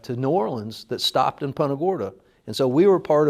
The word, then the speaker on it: Punta Gorda: to New Orleans that stopped in Punta Gorda.